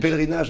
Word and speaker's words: pèlerinage: Pèlerinage en français. Pèlerinage. Pèlerinage. Oh, pèlerinage. Oh, pèlerinage. Oh my goodness me, I'm going to have to practice that. You've been here for a while, it'll come eventually. Pèlerinage.